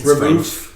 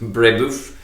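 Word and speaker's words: Brébeuf: So yesterday, the Monday the 19th, was the feast of Saint Isaac Jogues, Jean de Brebeuf, and companions. I don't know if I'm pronouncing that right. It's Brebeuf. Brebeuf.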